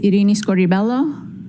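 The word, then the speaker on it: Irini Scordi-Bello: My name is Arini Scorelloo. That's spelled I R I N I S C O R D I hyphen B E L L O.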